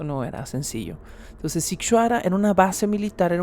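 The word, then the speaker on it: Sighișoara: de tres pisos dentro del pueblo militarizado de situará y situará escríbase totalmente distinto a lo que acabo de pronunciar lo estoy pronunciando fonéticamente pero se escribe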